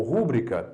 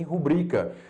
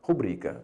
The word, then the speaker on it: rubrica: Para você falar que isso aqui se pronuncia recorde ou rúbrica? Não, professor. Obviamente, a pronúncia mais forte não está na antepenúltima sílaba, e sim, no caso, na penúltima.